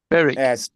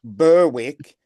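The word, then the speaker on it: Berwick: Beric Burwick but pronounced Beric.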